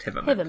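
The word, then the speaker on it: Hivemind: It's spelled hive mind, but it's pronounced Hiveman.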